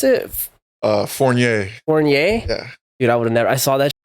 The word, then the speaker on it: Fournier: bro your your last name how do you pronounce it uh forier forier yeah dude I would have never I